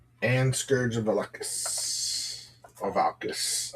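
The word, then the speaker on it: Valkas: Or Valkis. I always say Valakis, but it's wrong. Because I say it wrong.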